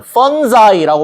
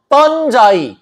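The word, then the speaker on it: fungi: 도움이 되는 친근한 도움이 되는 펀자이라고 발음하세요. 펀자이 균유 버섯버섯 버섯 버섯 균류 균류 자 균류와 뿌리의 그 지하를 통해서 그니까 땅속을 통해서 만들어진 그 네트워크가 서포트 지원합니다.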